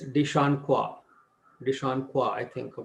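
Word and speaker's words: de Chancourtois: is spelled as d-e-c-h-a-m-c-o-u-r-t-o-i-s it is not cortius it is dishon kwa deshawn kwa i think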